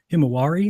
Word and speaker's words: Himawari: saying well how do you explain the him Himawari is how you say it you know the